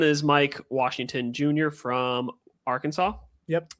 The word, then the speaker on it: Arkansas: from Arkansas. Yep. I almost said Arkansas. I'm like, that's not the correct pronunciation.